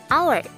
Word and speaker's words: hour: Di sini kata hour berawalan huruf H, tapi ketika diucapkan dalam bahasa Inggris bunyinya menjadi hour. Pengucapan huruf awalnya adalah O, bukan H, yang mana huruf O merupakan vowel sound.